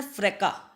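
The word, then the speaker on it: fracas: पहले second option है फ्रेका देखो वर्ड में फ्रेका लिखा है एस लिखा है लेकिन एस जो है ना वो साइलेंट है फ्रेका जो वर्ड है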